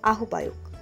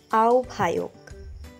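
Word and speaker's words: আহ্বায়ক: আহবায়ক অনেকেই উচ্চারণ করে থাকেন আহবায়ক। সঠিক উচ্চারণ আওভায়ক।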